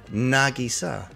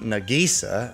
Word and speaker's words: Nagisa: a Japanese English translator I suggest that the heroines name we better pronounced Nagisa accent on the first syllable rather than Nagisa as any sewed you know everything everything